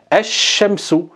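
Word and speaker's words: الشمس: le shin et le lem ne sera pas prononcé. Donc on dira ash-shamsu, ash-shamsu.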